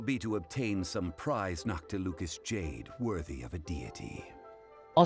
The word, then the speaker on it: Noctilucous Jade: The first step in our preparations shall be to obtain some prized Noctilucous jade worthy of a deity. Oh, so that's how you pronounce it.